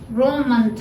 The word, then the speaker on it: रोमन्थ: रोममंथ है, इसका उच्चारण भी शिष्ट जनों के द्वारा रोमंथ है।